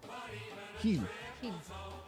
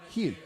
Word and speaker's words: Gil: Heel. Say it again. Heel.